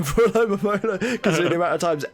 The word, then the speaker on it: Alomomola: I think that's a perfect name for Alomomola, because the amount of times everyone pronounces it wrong. Like, it's a Lola Mola, right? Yeah, Alomomola. It's Alomomola. Alomomola.